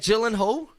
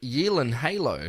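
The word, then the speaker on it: Gyllenhaal: Jake gyllen Hall uh it's not gyllen Hall it's Jake Yen Halo no way this is stupid this isn't right listen why do he come out of the Woodworks after 20 years sorry not y Hal you've been doing it wrong Ariana Grande Ariana Grande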